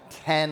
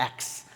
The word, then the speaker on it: X: Big news last week, the iPhone 10 launch. So, it's interesting, there was an article that came out that said people are mispronouncing 10 because they look at the X, they call it the X.